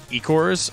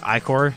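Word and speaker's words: Ichor: But the only issue is those Ecors or Icor, I should say.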